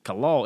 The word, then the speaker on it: Kalal: or Kalal, is that the right pronunciation? Kalal, Yeah, Kalal. Yeah.